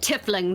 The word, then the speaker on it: tiefling: Pronounce it tiefling. That's how the old bloods say it.